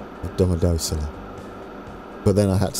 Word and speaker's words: Domodossola: Remember the pronunciation, Grand. Domodossola.